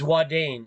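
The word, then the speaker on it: Ouadane: there look at that the one thing you see is wadane and I went there I went there but it's not spelled like that you gotta add an e on the end okay and then it's spelled o-u-a-d-a-n-e okay now that's a really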